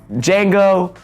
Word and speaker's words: Django: Django, the D is silent, my bad.